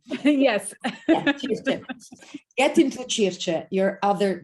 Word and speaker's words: Circe: Well, getting instead to Circe, I pronounce it the Italian way. Yes. Yeah, Circe.